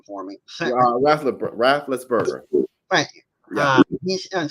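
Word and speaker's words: Raffensperger: Can you pronounce his name for me? Rafflesberger.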